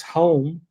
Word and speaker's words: Hulme: so marmon's silent so it's actually yeah it's home like denny holm the racing driver but he was a